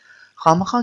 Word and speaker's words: خواہ مخواہ: थी क्या आमतौर पर ऐसे अल्फाज जो े और वाव से शुरू होते हैं वहां वाव साइलेंट होता है उसकी कोई आवाज नहीं होती उसे हम नहीं पढ़ते से ख मख नहीं पढ़ेंगे खा मखा पढ़ेंगे इस तरह से ख्वाब